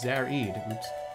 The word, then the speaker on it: Zarad: the latest record from zarad pronounced zarid award-winning composer and earth